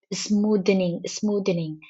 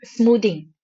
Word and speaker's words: smoothing: I am pronouncing as smoothening. So please, I apologize for that, and kindly ignore it. And it's not smoothening, rather it's an smoothing in SAP.